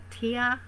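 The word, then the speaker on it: Tyr: And then of course we've got energies like Athena and the Goddess Bast, Goddess Kuan Yin, the North God Tia. I think it's pronounced T Y R.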